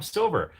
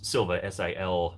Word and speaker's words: Silva: because his name was Silva, Silva, but because he was speaking like Bostonian or whatever, then she assumed it was Silva, even though his name's actually pronounced the way it's spelled because he had the weird accent.